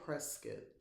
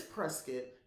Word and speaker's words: Prescott: Prescott, Prescott, the E is pronounced like the E in edible. Oh, Prescott. So it is Prescott.